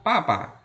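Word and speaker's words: 爸爸: Papa ya. Papa bacanya papa. Ini dibaca ringan ya.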